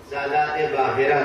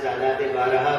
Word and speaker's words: سادات باہرہ: سادات باہرہ کا علاقہ، جسے عامیانہ تلفظ میں کثرت استعمال سے سادات بارہا کہا جاتا ہے.